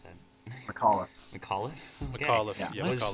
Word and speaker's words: McAuliffe: Well, General Anthony Clement Nuts I just realized I don't know how to pronounce that. McAuliffe.